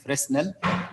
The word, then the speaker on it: Fresnel: collectors by the way some people read here fernell as fresnel the s is silent is not pronounced and also we have